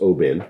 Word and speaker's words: Oban: Um and I know on set we've opened the O the I and uh Distiller's Edition Oban, which is spelled Oban, but pronounced Oban, Yeah.